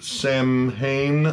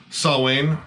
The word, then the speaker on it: Samhain: huge find we have the samhain or salwain if you were going to pronounce it right i guess i